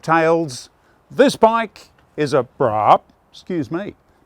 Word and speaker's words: Braaap: This bike is a Braaap, excuse me. No, it's spelled with 3 A's, most unusual.